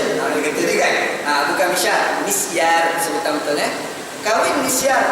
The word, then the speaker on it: misyar: misyar kahwin Misar ya sebutan ejaan m i s tolak y a r mis ya mim Sin ya Alif ro ada orang tulis mis tulis sekali m i s y a r orang baca mishar salah bukan mishar kalau